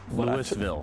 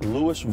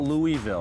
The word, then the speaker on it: Louisville: Louisville. Louisville. Not Louisville.